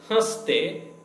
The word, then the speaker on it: हंस: बच्चे कैसे हंसते नहीं रहते हैं? बच्चे children कैसे how हंसते हंस laugh हंस. see the yen must be pronounced with the help of your nose.